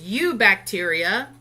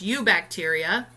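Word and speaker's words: Eubacteria: ARCA bacteria this is U bacteria that E is silent there it's called or the e'en that you go together so it's u bacteria Protista fungi plant I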